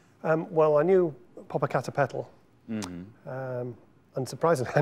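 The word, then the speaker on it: Popocatépetl: world is that right um well I knew Pap a cater petal MH um and surprisingly I know how to say it um I remember that from J frankly uh go on say it again Papa C papal yes right good okay um I have a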